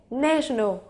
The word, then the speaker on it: National: một chút thay đổi bình thường Chúng ta đọc là Nation nhưng khi thêm Al cao vào ngay lập tức đổi thành e National được chưa ạ tương